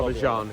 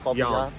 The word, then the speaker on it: Bobbejaanland: Not Yeah, Bobbejaanland, it's Jan. Bobbejaanland.